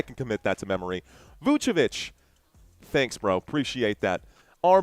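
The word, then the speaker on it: Vučević: So, Joshua saying it's pronounced Vucevic.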